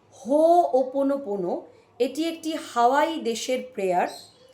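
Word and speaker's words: Hoʻoponopono: বলি হিলিং টেকনিকটার নাম হো ওপন পোনো অনেকেই এটাকে সঠিকভাবে উচ্চারণ করেন না তাই আবারো বলি হো ওপন পোনো এটি একটি হাওয়াই দেশের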